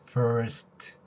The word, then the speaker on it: first: F 의미합니다 그러면 F를 연결하면 이 발음에 얼 발음까지 섞인다면 first 이렇게 연결될 것이고요 만약에 리얼 발음을 하지 않는